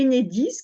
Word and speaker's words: Enedis: c'est un sigle et enedis comme si c'était un mot on ne dit pas